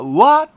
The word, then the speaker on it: は: に 1番問題は何々はのわというのがですね日本語読みではわと発音して欲しいんですはではダメなんですよねですからこれ